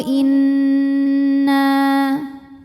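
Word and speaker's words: إِنَّ: boleh lima harakat qolu Inna huruf nun ini dihukumi dengan ghunah musyaddadah atau wajibul ghunah sebab nunnya bertasdid maka cara bacanya didengungkan jadi kita tahan bunyi n-nya kurang lebih dua harakat Inna nah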